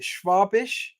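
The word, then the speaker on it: Schwäbisch: I never know how to say this, but is it Schwabisch?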